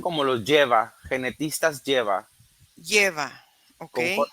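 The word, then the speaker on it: Jeva: Se se pronuncian como los lleva genetistas.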